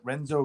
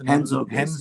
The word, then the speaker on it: Renzo: this video there's the Renzo Gracie. Is Henzo Gracie. Brazilian, the R pronounced like yeah.